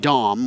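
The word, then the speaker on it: Dahm: that water goes through more like dom which i you know like a name there you go d-a-h-m for native english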